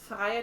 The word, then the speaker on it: Freya: know this name is Freya but she pronounces with f which is I imagine how it's meant to be pronounced and she's German um she is faia 22 on rivalry and